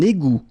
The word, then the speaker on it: égout: Un égout. Okay, little link between the two. Un égout. Final T not pronounced.